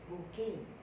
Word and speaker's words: bouquet: stones one pal a bouquet of flowers this word is pronounced as booking and a band of